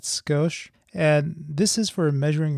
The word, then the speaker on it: Scosche: to point out is the name of the company it's ghost you pronounce that skosh and this is for